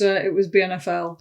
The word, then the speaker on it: BNFL: At the time, it was BNFL.